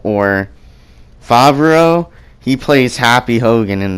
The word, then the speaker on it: Favreau: I don't know how to pronounce his last name. It's John Favreau or Favreau.